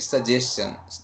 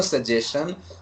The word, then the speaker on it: suggestion: one word you said suggestions there is no suggestion on that is suggestion yeah say like question like suggestion say suggestion suggestion yeah